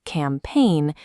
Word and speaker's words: campaign: When G and N appear together, the G is silent. In sign, we skip the G. Let's apply this to campaign. We say campaign, ignoring the G.